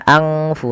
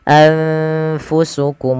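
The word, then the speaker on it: أنفسكم: Cara membacanya adalah nunnya disamarkan kepada fa. Anfa, anfu, anfu, bukan angfu tapi anfusukum mustakbartum.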